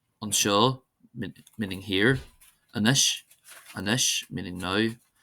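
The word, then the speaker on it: anois: exceptions, and here are some common words that are exceptions, that is, they're not stressed on the first syllable. Anseo, anseo, meaning here. Anish, anish, meaning now.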